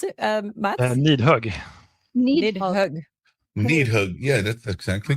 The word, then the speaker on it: Nidhögg: How would you pronounce it, Matt? Nidhögg. Nidhögg.